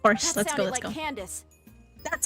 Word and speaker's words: Candace: over there of course let's go let's go Candace that's how you pronounce her name okay come on you two